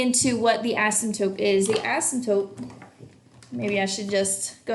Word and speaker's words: asymptote: felt rummy CAS Yop silent P asymptotes it's almost like a bad word he asked some dope oh my gosh alright